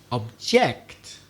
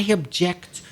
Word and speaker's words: object: see or touch but if i were to say object then it's a verb for example i object to people having conversations